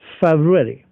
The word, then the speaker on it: February: In fact इसके 2 pronunciation होते हैं, जिसमें जैसे इसमें आपने रू पढ़ा, एक ऐसा प्रोनाउंसिएशन भी इसका होता है जिसमें आप इसको ऐसे पढ़ सकते हैं, फेब्रुअरी, एफ ई, फेब, and then raw एंड री, फेब्रुअरी। इसमें रू नहीं पढ़ते। आप दोनों तरीके से किसी भी तरीके से प्रोनाउंस कर सकते हैं, जो भी आपको आसान लगे।